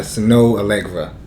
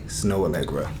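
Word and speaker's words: Snoh Aalegra: The album "Feels" by Snow Allegra, and should I say how it's spelled? Because sure. I mean, it's really odd. Yeah. So name. Snow Allegra is spelled SNOHAALEGRA. Snow Allegra.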